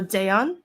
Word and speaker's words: Dejan: So that's Dejan or Dayan, which is actually the correct way to pronounce it.